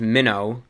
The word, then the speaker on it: Mino: It's called Minnow HD. It looks like Mino, but it's pronounced Minnow, like a little baby fish.